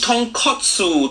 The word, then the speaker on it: tonkotsu: Yeah, So I just tonkatsu imagined like mean that. fried piece of pork. That completely different thing. Say it properly. much. Tonkotsu.